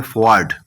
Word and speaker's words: fjord: Next हमारे पास है, ये असल बोला जाता है फॉर्ड। तो इसमें जे जो है वो साइलेंट है।